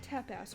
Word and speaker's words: tapas: How do you pronounce T-A-P-A-S? If it's not tapas, what is it? It's tapas. Like, tap that.